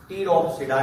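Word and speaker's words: Pteropsida: साइलोप्सिडा, इसमें P silent, लाइकोप्सिडा, स्फिनोप्सिडा एंड टीरोप्सिडा, इसमें भी पी साइलेंट।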